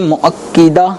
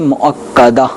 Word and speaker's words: مؤکدہ: اچھا، سنت مؤکدہ ہے مؤکدہ ہے تلفظ اس میں کہ سنت مؤکدہ یہ نہیں ہے، کاف کے اوپر زبر ہے، سنت مؤکدہ اس طرح پڑھا جائے گا.